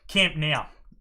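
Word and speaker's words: Camp Nou: So the first one will be the Camp Ben, how do you say that? Now. Thank you. Camp Now.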